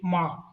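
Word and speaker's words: 妈: See, if you see the Finin just below the diagram, it's all written is MA ma.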